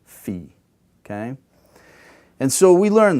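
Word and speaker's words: φ: And the last one at the bottom there, the labial aspirate, is phi, phi. Okay? Now this is traditionally how we learn they're pronounced.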